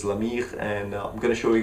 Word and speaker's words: La Myrrhe: talking about is called La Myrrhe. There's no way of pronouncing it in English, so the French pronunciation is La Myrrhe, and I'm gonna show